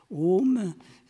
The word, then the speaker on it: Om: Om, c'est la contraction des sons A, le son A qui se prononce au fond de la gorge, le son U qui se prononce au niveau des lèvres, et puis une nasalisation qui fait intervenir les fosses nasales.